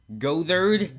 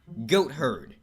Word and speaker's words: goatherd: Gothard? No, the T and H are in different syllables, so the word is actually pronounced goatherd.